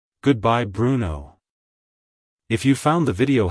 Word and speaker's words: Bruno: in the second syllable the stress is on the first syllable like hello Bruno goodbye Bruno if you found the